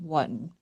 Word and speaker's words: Wotton: When I interviewed uh Carol on Henry Wotton, that's how she said to say the name, Wotton.